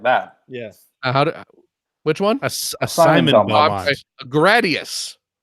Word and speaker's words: Gradius: say it like that yes which one assignment Gradius not a day.you that that's how you say